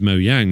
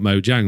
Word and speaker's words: Mojang: creators went no no this is mo yang not mo jang we're like oh right